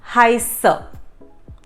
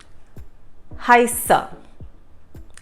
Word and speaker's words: heiße: So there is like a rolling sound of S in that word where the SZ is used.